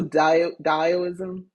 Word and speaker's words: Taoism: you've just been indoctrinated the T in the tid pronounces d so dialism taoism thank you taoism I